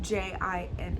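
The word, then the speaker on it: djinn: how to pronounce this d j i n n Jin is the D silent DJ i n n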